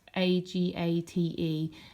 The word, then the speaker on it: agate: It's spelt Agate, and I'll be honest, I had to look up the pronunciation of it, but you say agate apparently.